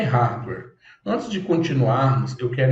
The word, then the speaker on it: hardware: meu hardware o hardware do meu computador o rare né então a pronúncia correta é hardware se você quiser ouvir essa pronúncia no Google